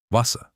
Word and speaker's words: Wasser: The letter W sounds like an English V. Wasser, water.